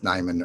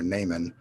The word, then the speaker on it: Neiman: name and she said well depends in germany or in america it's neyman or naaman and i said it's